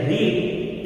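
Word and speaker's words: read: First form को हम बोलते हैं रीड और सेकंड और थर्ड फॉर्म को हम बोलते हैं रेड।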